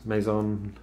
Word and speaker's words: Mazon: my review it's the Harbor Breeze Maison uh it's spelled like Amazon without the a at the beginning and yeah I think